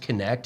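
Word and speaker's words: Knecht: out because his name is so sick it's pronounced connect and it's KN NE C HT like it's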